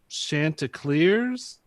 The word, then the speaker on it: Chanticleer: Coastal Carolina Chanticleers.